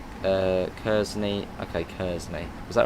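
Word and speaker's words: Kearsney: Pronounced Kersney.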